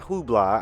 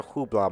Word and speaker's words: Hublot: told you guys about the whole um not hubla I don't want to say it like that Simone it's not a Hublot moment but just it was a lot of